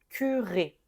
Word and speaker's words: curé: Ensuite, ici, on doit ajouter un accent, mais c'est la seule, ça change donc la prononciation, hein. On a ici le mot cure et ici, je vais prononcer curé.